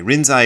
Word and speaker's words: Rinzai: Rinzai is how he's pronounced.